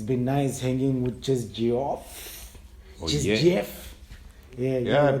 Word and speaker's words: Jus Geoff: been nice hanging with jess geoff yeah yeah people have a problem pronouncing that name yeah yeah it's just jeff just just believe you